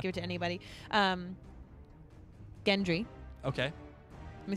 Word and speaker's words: Gendry: Gendry.